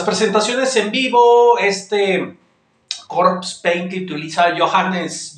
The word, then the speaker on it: Johannes: en vivo este utiliza johanness johanness creo que se pronuncia así sino pues una disculpa